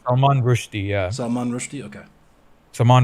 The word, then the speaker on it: Salman Rushdie: I don't know if I butchered his name. Salman Rushdie, yeah.